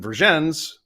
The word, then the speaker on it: Vergennes: And then we have the thing in Vermont where we say some names are pronounced French and some aren't. So he was given Vergennes, which is more French, and then he was given Calais, which is spelled like Calais.